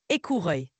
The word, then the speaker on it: écureuil: le prononce bien sûr écureuil se prononce écouruil répète après mo écouruil écureuil très bien tu l'as très bien dit continue à pratiquer et tu vas y arriver sans problème.